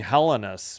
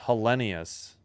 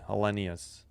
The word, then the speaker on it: Helenius: He was saying Helenus, but I'm saying it right. It's Helenius. You pronounce the You pronounce the I as e E or double E. Helenius.